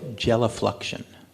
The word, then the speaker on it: gelifluction: a Natural Stone Bank how do you pronounce that word J sorry gel gelifluction G thank you I won't forget how